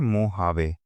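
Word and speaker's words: Mojave: यहां पे मोहावे की स्पेलिंग एम ओ जे है। ठीक? स्पेलेल इसको करते हैं मोहावे। ठीक है? बट बोलते हैं लिखते हैं मोजावे।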